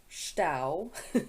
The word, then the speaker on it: Stau: traffic jams the german name is stau like rhymes with cow strap jam yeah oh